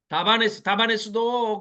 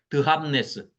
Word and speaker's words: 다바네스: 드합네스인데 발음이 잘 안 되니까 번역하시는 할아버지들이 다바네스 이렇게 쉽게 해놨는데 드합네스.